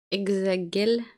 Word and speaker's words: Hexagel: Hexagel. Hexagel. Hexagel. C'est comme du gel.